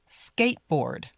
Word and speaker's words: skateboard: Make sure we just say squirrel, skateboard, park, skateboard. You don't need to say the t. skateboard or the d.